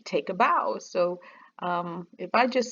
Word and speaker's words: Bao: And the BAU is pronounced bow, like take a bow.